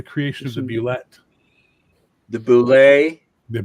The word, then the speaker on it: Bulette: The Bullet. Oh, je parle français, moi. Fais attention. I published the correct pronunciation with the monster in July of 1976. Okay. Dragon number 1. Boulet. Why? Because I said so.